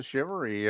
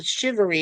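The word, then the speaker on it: shivaree: film yeah you should recommend Jill watch the shivery uh Friday uh stream yes yes H okay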